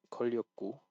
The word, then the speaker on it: 걸렸고: 시간이 걸렸고 방과 후에 남의 일에 관심 So like before, this 걸렸고. So you just need to make sure you're pronouncing both the vowels, and like giving it enough length. not vowel, sorry, consonants. So just make sure you're giving it enough length and giving it enough, like just pronouncing both, like 걸렸고.